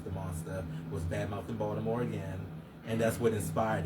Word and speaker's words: Baltimore: You say Baltimore. Baltimore. I say Baltimore, too. Some people say Baltimore. They put a D in it.